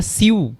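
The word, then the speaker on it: sue: এই যে এটা সিউ সিউ, হ্যাঁ, এই জিনিসটা যেটা আছে তাহলে এইটার ইউ ই এর উচ্চারণ কীরকম হবে? ইউ এর মতো হবে, সিউ, অর্থাৎ আদালতে অভিযুক্ত করা।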